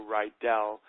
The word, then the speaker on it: Rydall: One little quick correction is my last name is pronounced as if it's spelled E-L-L, so Rydall, but it does look